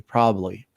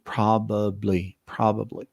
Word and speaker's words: probably: Obviously, when you speak fast, you don't pronounce the B very much there. You can say probably. So it gets really fast. But if you divide a word, the syllables and everything is going to be probably.